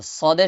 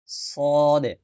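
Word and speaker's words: صاد: সদে সদে সদে সদে ঠোট গোল করে সদে সদে সদে সদে সদে সদ সদ সদ সদ সদ সদ এটা সিন আর সদ ওটার মধ্যে পার্থক্য বুঝে নিবেন এ হল পার্থক্য সিন পাতলা করে সদ মোটা করে সা নরম করে সিন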